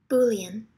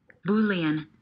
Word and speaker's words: Boolean: 발음교가 있는 불리죠? Boolean. Boolean.